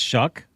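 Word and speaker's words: Shough: Tyler is that how you say it? It's Shuck. Shuck.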